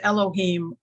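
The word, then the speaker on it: אלוהים: um other thing about the word god which is pronounced Elohim and then there are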